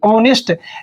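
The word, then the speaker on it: honest: ऑनेस्ट ये एच का उच्चारण बच्चों ह नहीं करना है। ओ से उच्चारण होगा। यहां पर एच बच्चों साइलेंट है।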